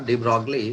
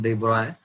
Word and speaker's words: de Broglie: तो डी ब्रॉय था, डी ब्रॉगली, इसका प्रोनाउंसिएशन डी ब्रॉय।